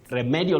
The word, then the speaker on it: remedial: It is re, then medial.